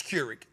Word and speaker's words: Keurig: I said, I pronunciated it correctly. It's Keurig.